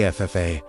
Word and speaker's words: Ephphatha: When you say FFA, the emphasis falling on the final syllable, you feel something move in your skull.